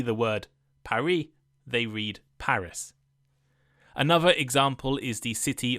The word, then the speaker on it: Paris: The capital of France is Paris, but in English we say Paris. Why this difference? Well, in French they tend not to pronounce the S at the end of words, while in English we do.